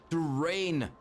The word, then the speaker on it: Turayne: Turayne. Okay, thank you for pronouncing it correctly again. Turayne, guys. Like terrain, but then Turayne? Rain?